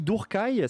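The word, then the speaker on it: Druchii: On dit Durkai, c'est la prononciation correcte de Drushi.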